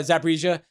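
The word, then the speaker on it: Zaporizhzhia: pronounce it right. Yeah, Zaporizhia.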